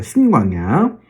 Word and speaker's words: 신광야: 합니다 수류광야 애담 광야 신광이야 짧게 발음하셔야 됩니다 신광양 그 다음에 여러분 잘